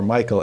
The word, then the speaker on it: Michal: Her name is Michal or Michael as she is sometimes pronounced and Saul promises her to David also, but under these conditions, verse 21.